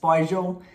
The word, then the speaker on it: Spargel: In German, it's pronounced spargel.